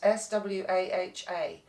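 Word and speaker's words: svāhā: It's spelt S-W-A-H-A. But in mantra and in Sanskrit, a V is equally a W. It's halfway in between. So it's SWAHA, SWAHA. If you say SWAHA, it doesn't matter.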